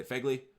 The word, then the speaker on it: Phegley: to say his name Phegley I think that's a you say FEGLI I've been a solid